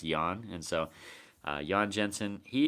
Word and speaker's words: Jorn: some people call him Jorn Jensen it's Jo RN but he told me that it's actually pronounced young and so young Jensen